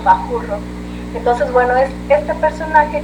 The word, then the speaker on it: Mascorro: ustedes les puede sonar más Mascorro con S, que era la manera en la que le decían los españoles a un líder de los huachichiles, aunque en realidad ellos lo pronunciaban más como Bajurro.